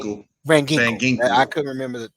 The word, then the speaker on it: Van Ginkel: You do replace it through free agency with what's that, Grinky? Am I right with Van his name? Ginkel. Van Van Ginkel.